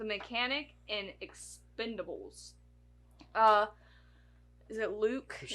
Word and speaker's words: Luc: Is it Luke? Which It's is a new one's Luc. coming out too. Yeah, Luke.